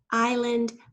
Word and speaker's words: island: Window, island. We were just thinking about this silent S.